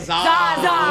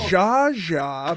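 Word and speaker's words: Zsa Zsa: Zaza. Alexis said Z-A-A-Z-A-A. That is incorrect. Jaja, Brooke, Thank you. is spelled Z-S-A space Z-S-A. Oh, the S is silent.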